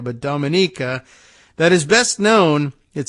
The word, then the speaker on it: Dominica: island of uh oh yeah how do you pronounce it again it's uh Dominica right not Dominica but Dominica that is best known it says here for